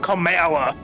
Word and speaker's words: Kamala: He pronounced her name right. That Kamala.